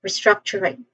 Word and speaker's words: restructuring: So pronunciation wise first syllable is a re. is has this has a short e sound. So re re struck the second syllable struck this part has the main stress there's a short vowel sound here.